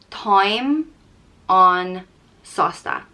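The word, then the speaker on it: táim an-sásta: content and happy and it's pronounced time on salsa time on salsa and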